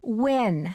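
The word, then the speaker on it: Nguyen: Maya Win. Can you spell that, please?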